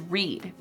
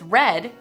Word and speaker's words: read: all english verbs because its spelling remains the same only its pronunciation differs to show changes in tense the base form is read the simple past form is red and the past participle is also red i have read harry